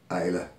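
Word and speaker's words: Islay: is a from isla you'll see it spelled it is spelled is la y and that is Isla it's not is lay it's not a may if you are talking to whisky people it is Isla and this is from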